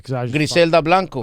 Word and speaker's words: Griselda Blanco: Griselda Blanco.